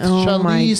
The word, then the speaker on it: Charlize: You did with Charlize Theron. Yeah. I loved it. I loved it. I did not pronounce that right.